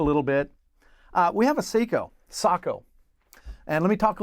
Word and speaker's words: Sako: Speaking with people who are in the know, the correct pronunciation is Sako. If you say Sako, only those people that know what you're talking about. If you say Sako, everybody knows what you're talking about, but you look like you might not know what you're talking about.